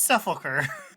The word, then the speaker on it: Sepulcher: It's Sepulcher.